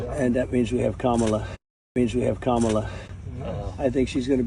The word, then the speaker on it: Kamala: Also, it's very interesting that he pronounces her name correctly. He says Kamala.